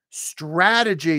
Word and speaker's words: strategy: Strategy. Someone's asking me how to pronounce strategy. Ah, as in hat.